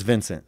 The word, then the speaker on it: Vinc: ] i was like oh no it's vince i just spell like that yeah i just spell